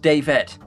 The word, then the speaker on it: Davette: It's pronounced Davette, said Luna in chat.